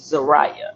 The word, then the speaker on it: Zariah: I was pronouncing her name wrong but it's Zariah.